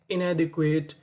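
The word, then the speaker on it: inadequate: अगर आपको इंग्लिश की किसी भी मीनिंग के आखिरी में इ लिखा मिले तो हमें इ का उच्चारण नहीं करना होता। हमें उससे पहले तक की मीनिंग पढ़नी होती है।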